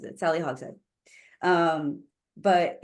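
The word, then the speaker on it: Hogshead: author S Sally hogen hog Sheed it's h o g s h e a d um sorry hog head that's how she pronounces it Sally hog head um but it's fascinating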